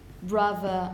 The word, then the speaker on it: brother: middle of a word if the if the origin is anglo-saxon like when you say brother or mother you will pronounce it with the voiced one but if it's a